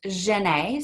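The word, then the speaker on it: Djenné: the great mosque of djenne a and this is in Mali it's pronounced Jenay so this is an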